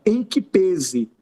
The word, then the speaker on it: em que pese: Cuidado com essa expressão adverbial, perdão, com essa expressão prepositiva em que pese. E a pronúncia é essa mesma, tá, gente? Há alguns que falam em que pese, só que o timbre é fechado.